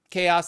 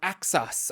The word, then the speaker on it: Xaos: but it's spelled x aoos uh but it's pronounced chaos I I I believe I've mispronounced it in